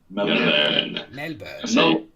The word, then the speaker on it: Melbourne: Melbourne. That's how you pronounce it.